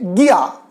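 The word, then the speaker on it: guía: एक और एग्जांपल देख लेते हैं, गिया, GUIA, इसको प्रोनाउंस करेंगे गिया, गिया होता है गाइड।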